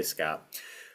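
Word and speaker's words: scaup: So I say scalp.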